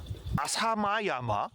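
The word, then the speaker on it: 朝熊山: 그리고 여기는 아사마야마. 아사마야마라고 읽어.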